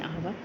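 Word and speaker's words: hour: देखो, हाउस के अंदर तो हा का साउंड आ रहा है, लेकिन आवर में ओ का साउंड, क्योंकि एच जो है वो साइलेंट है तो इसलिए आवर तो एच से स्टार्ट हो रहा है लेकिन उसके साथ एन लगता है।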